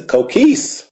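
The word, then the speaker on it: Coquís: playing with the expansion franchise, the Puerto Rico Coquis. I think, is that how you pronounce it? Yes, the Coquis.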